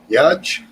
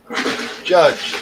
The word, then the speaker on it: Judge: Is it pronounced is it Mike Judge? Judge. Yeah. Judge. Yeah.